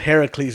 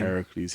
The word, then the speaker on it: Heracles: Same name, but Heracles is the Greek pronunciation of the name. Heracles.